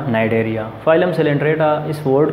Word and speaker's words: Cnidaria: सी इसमें साइलेंट है, नाइडेरिया इनको कहा जाता है।